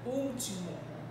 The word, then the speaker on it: último: Eu percebo quem é a minha sílaba tônica e vou acentuar de acordo com o que eu entendi. Último. Qual é a sílaba que apresenta um som aberto em relação à vogal? É justamente a minha primeira sílaba.